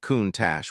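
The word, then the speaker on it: Countach: A countatch. Sam pronounced it correctly. Count Tash, which almost no one did.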